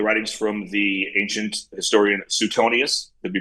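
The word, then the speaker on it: Suetonius: of uh the writings from the ancient historian Sutonius. It' be pronounced Sutonius.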